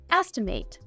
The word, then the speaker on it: estimate: As a verb, this word is pronounced estimate. It can also be used as a noun. In this case, we'd say an estimate.